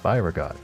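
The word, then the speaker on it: Byregot: Byreot.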